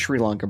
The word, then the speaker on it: Sri Lanka: going hunting and um it's pronounced Sri Lanka Bryce is it Sri